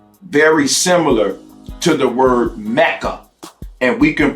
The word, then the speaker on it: Mecca: So that's very interesting that the word Mecca can be pronounced as Messa.